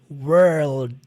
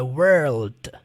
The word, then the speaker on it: world: E por último, você vai fazer o som do D de modo sutil. Não é D, world. Não, é mais sutil, é world.